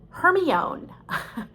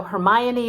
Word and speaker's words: Hermione: book to my ten-year-old daughter i called her hermione because i had never heard the word pronounced before and that is a great lesson